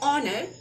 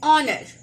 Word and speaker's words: honor: words are honest and honor, for though the first letter of each is a consonant H, that H is silent, so when the words are spoken, the opening sound is that of a vowel, so we put an